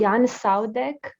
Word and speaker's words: Jan Saudek: I think his name is pronounced. I'm gonna write it down for everybody. Jan Saudek.